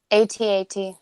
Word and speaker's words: AT-AT: Do you pronounce it AT-AT or at? I want everybody in the chat, and I want everybody here on the panel to say AT-AT. I'm sorry, but it was confirmed.